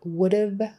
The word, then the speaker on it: would've: So that is the rundown on would've, could've, and should've in American English, and it's a past conditional type of verb form. Don't forget your V, because the have is important.